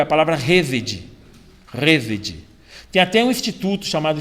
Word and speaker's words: hesed: A palavra que misericórdia em hebraico é a palavra hesed. Tem até um instituto chamado Instituto Hesed, né?